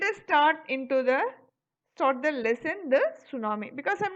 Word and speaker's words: tsunami: Even Kadalur, I mean recently we all were affected with the tsunami. So let us talk first what is meant by tsunami. Tsunami is a Japanese word. TSU. Tsu means, T is silent there.